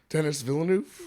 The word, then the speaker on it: Villeneuve: Denis Villeneuve?